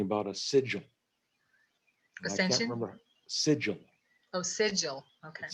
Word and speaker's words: sigil: a sigil ascension remember sigil oh sigil okay it's like an sid gel but i'm not sure